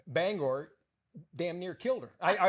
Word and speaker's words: Bangor: There's a certain sensitivity about how you pronounce the name of this city. Yeah, it's Bangor. All right. Bangor. And for the longest time, I thought it was Bangor.